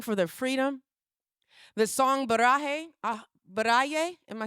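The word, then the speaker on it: Baraye: The song Barah Baray. Am I saying it correctly? Anybody? Baray.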